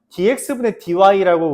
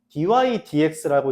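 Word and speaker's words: dy/dx: dydx라고 쓰는 이제 읽는데 이때 좀 주의할 건 뭐냐면 dx dy라고 우리가 읽을기가 좀 쉽거든. 그렇게 읽지 않고요. dydx라고 읽습니다.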